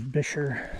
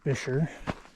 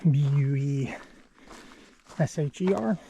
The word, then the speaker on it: Buescher: So a lot of people try to pronounce it bucher or busher, but I have it on good authority. It's pronounced bisher like fisher but with a b.